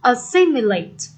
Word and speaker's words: assimilate: Và câu D, assimilate, assimilate. Nhấn âm 2.